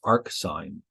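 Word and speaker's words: arcsine: exactly does that so this one is pronounced arc sign arctangent and Arc secant although they are inverses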